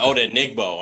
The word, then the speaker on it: Odenigbo: parents they would give me a very different pronunciation how did oh no my eyes was off okay he said odenigbo and I'm like oh okay alright but obviously